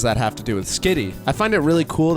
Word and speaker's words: Skitty: Skitty rhymes with dick.